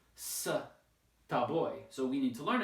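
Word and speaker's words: с тобой: So instead of sa, ta boy, it's sta boy, sta boy, like this, sta boy, with the stress on the last syllable.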